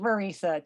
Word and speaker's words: Marissa: And my name is pronounced Marissa. Just Marissa, I apologize. Like Teresa.